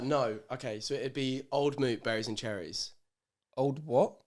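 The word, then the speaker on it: Old Mout: Oh no, okay, so it'd be Old Moot berries and cherries. Old what? Old Moot? Mount.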